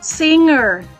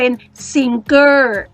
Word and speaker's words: singer: ไป ซิง เกอร์ Singer คำ นี้ หนู สังเกต ตัว in G เรา จะ ออก เสียง เป็น งู นะ คะ เซอร์ อีก nursing แล้ว ก็ มี เออ อยู่ ข้าง หลัง เชื่อม คำ เหล่า นี้ เข้า ด้วย กัน เป็น สิ่ง เอ้อ เรา ไม่ อ่าน ออก เสียง เป็น สิ่ง เกอร์ นะ คะ จะ ออก เสียง เป็น ซิง เกิ้ อีก ต่อ ไป คำ